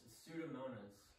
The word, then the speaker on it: Pseudomonas: so we pronounce it for me it is pronounced pseudomonas and this disease is a nasty nasty green